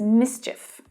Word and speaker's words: mischief: We also use the word mischief as well, which is often pronounced incorrectly as well as mischief, but it's mischief, or mischievous.